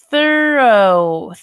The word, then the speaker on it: thorough: this is this it this one this is pronounced thorough thorough thorough thorough right yep okay cero okay